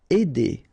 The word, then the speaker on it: aider: Aider, all right, combination of A and I together will produce the sound aider.